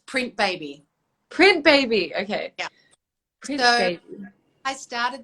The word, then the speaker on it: Printebebe: going to call it print baby baby yeah printing companies kept coming up when i googled it right of course anyway i made it a bit tricky but it's pronounced print baby i love it and